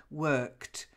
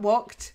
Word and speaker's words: worked: The first one's just the d at the end. Worked. So it's a kt ending. Worked. Okay. Okay. Okay. Worked. Not walked. Worked.